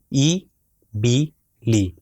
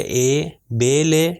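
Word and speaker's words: اِبِلِ: جائے اے بی لی تو اس کا مطلب با حرف با اور حرف لام کا تلفظ صحیح ہے مگر الف کا تلفظ غلط ہے. تو جتنی جگہ پر بھی کسرہ آئے گا اس چیز کا خاص خیال رکھے اپنے اذہان میں کہ اس کی ساؤنڈ ہمیشہ ای ہے.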